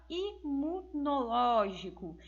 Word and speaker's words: imunológico: E depois nós temos a palavra imunológico. Então, nós também temos essa mesma ideia, em que nós vamos perceber que o ló é a sílaba tônica, também sendo que a antepenúltima sílaba tônica.